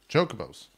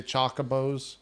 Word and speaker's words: chocobo: about chuck chucka bus chocobos that's right okay yeah yeah okay it's all right no one no one pronounces it correctly on the first time some Irish people even say choco bows so you know Jacques